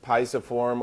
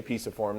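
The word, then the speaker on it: pisiform: on this plastic hand they've got the piasa form or piece of form depending on how you want to pronounce it tomato tomahto I say piece of form this is piece of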